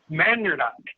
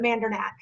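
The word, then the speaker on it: Mandernach: us once again Jean Mander did I pronounce that right Jean actually we pronounce it with a harder k at the end you gave the official German pronunciation but we pronounce it mandac okay well close maybe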